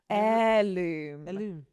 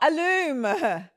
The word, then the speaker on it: heirloom: Heirloom. Heirloom. Alo. It's not aloom.